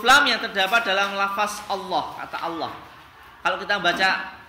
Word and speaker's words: Allah: Jadi huruf lam yang terdapat dalam lafaz Allah itu cara membacanya dibagi menjadi 2, yaitu tafkhim atau tebal dan kedua tarkik atau tipis, tergantung pada huruf sebelumnya. Jadi kata Allah itu bisa lamnya bisa dibaca berbeda tergantung huruf sebelumnya.